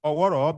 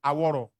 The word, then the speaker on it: Oworo: Yes, the British pronounce Oworo because they cannot pronounce Oworo. They say Aworo.